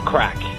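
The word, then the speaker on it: craic: like so it's actually the crack is spelled c-r-a-i-c and it just means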